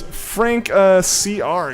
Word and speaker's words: Frank CR: It's Frank CR. Gotcha. I think it's funny people pronounce it Franker. It's just the guess that you get. Yeah, I guess it's just what people are gonna guess. But yeah, I appreciate you correcting me on that.